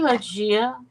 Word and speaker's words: Lygia: Oh, I hope I pronounced your name correctly. Lygia, is that correct? Hi, Lagia. That's how I say it too, Lagia.